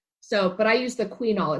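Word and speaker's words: Qunol: So, but I use the quinol. It's spelled Q-U-N-O-L.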